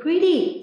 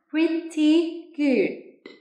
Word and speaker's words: pretty: Từ pretty, nếu mà tiếng Anh thì người ta sẽ thường hay phát âm là pretty, t, âm tờ các bạn nhé. Nhưng mà tiếng Anh Mỹ đó, nó khác với tiếng Anh là âm tờ. Thì người Mỹ họ sẽ hay đọc là âm đờ.